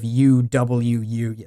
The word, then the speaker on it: UwU: Chat is now grilling me over my pronunciation of UWU. I know it's supposed to be pronounced uwu.